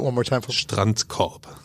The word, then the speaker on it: Strandkorb: Okay, and pronounce it one more time for me. Strandkorb. Strandkorb.